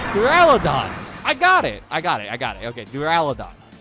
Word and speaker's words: Duraludon: Duraludon.